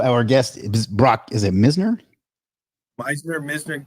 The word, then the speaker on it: Misner: I think my name has been pronounced Meisner, but everybody that reads it always calls it Misner.